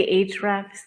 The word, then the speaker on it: Ahrefs: and semrush as well and when you say h-rex like a-h-r-e-f-s just spell it out yeah it's a play on the